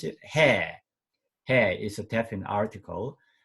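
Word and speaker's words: ἡ: a sound but because of breeding mark we pronounce it hair hair is a definite article oh this very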